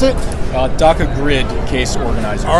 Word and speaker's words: Daka: How do you pronounce it? Daka Grid case organizer.